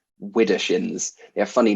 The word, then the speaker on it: Widdershins: Widdershins, Widder shins, SHIN.